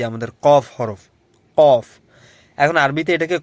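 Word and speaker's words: قاف: কফ। এখন আরবিতে এটাকে ক বললেও আমরা বাংলায় এটাকে ক বইটা মিলিয়ে কম্বিনেশন করেছি। কারণ এর উচ্চারণটা হবে আপনার একদম ভিতর থেকে।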